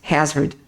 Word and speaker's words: hazard: eu citei anteriormente né o h com som de dois R fracos no português Hazard expressões usadas em reuniões